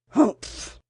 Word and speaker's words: humph: "Humph!" said the sand fairy. If you read this story aloud, please pronounce humph exactly as it's spelt, for that is how he said it.